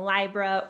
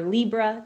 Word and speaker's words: Libra: p.m eastern time in libra or libra depending on how you say it on march 28th